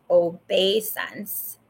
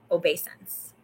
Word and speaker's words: obeisance: what it is okay it is pronounced obey sense it's def differential respect um homage worship adoration reference veneration veneration gesture expressing deferential respect such as a bow of courtesy so it's obeisance obeisance obeisance okay back to